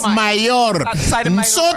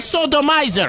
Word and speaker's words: Sotomayor: Sotomayor. Sotomayor is not sodomizer.